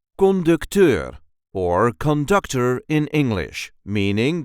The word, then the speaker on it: conducteur: There is a light emphasis on the last syllable. Conductor.